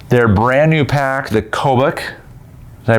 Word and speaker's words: Kobuk: Their brand new pack, the Kobuk. Did I pronounce it correctly?